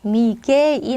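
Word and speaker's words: Miguel: 얘는 발음이 어떻게 돼요 미구의 노노 이제 미구엘 아니고 미 게라고 해 주셔야 됩니다 정확하게 게라고 해 주셔야 돼요 그 산미구엘 이게 아니라 산미겔 미겔이 맞습니다 미겔 그죠 그리고 얘는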